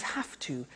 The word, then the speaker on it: have to: Notice I don't say V, I say F. Have. It becomes have to. Have to becomes in pronunciation have to.